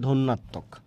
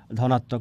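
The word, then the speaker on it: ধ্বন্যাত্মক: উচ্চারণটা হচ্ছে ধন্যাত্মক, ধনাত্মক না, অনেকে ধনাত্মক বলেন, ধন্যাত্মক।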